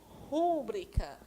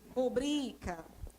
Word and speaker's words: rubrica: A maioria pronuncia rúbrica. Só que a palavra é rubrica.